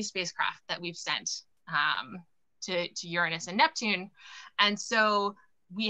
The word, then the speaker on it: Uranus: Giggle now, because I'm not going to pronounce it the other way. Uranus, all right?